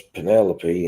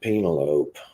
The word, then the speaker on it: Penelope: meets the girl and her name's Penelope and he keeps pronounced at Pina lope I know yeah I